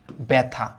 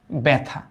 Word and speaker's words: ব্যথা: কিন্তু এটা না থেকে যদি একটা অ বা আয়ের মতো থাকে, তবে এটার উচ্চারণ কিন্তু এ হয়, এ। যেমন এটার উচ্চারিত রূপ কিন্তু এরকম, ব্যথা, ব্যথা।